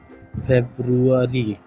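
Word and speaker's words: February: अब फरवरी को हम कैसे कहते हैं, फरवरी हम कहते हैं, लेकिन एक्चुअल में इसकी इंग्लिश प्रोनाउंसिएशन क्या है, फेब्रुअरी, फेब्रुअरी।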